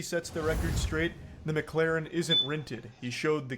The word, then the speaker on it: McLaren: part pisses me off because he says the name wrong like eight times in a row it's not McLaren it's McLaren okay so that's how we know this guy